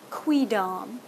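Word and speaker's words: quidam: proper latin students and the official pronunciation of this word is qui-dom this would be qui-dom let's just add damn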